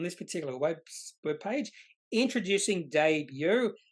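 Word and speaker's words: Daybue: a debut website I've announced we know it's pronounced debut because I've mentioned here on this particular web page introducing debut pronounced day with uh the last bit BYO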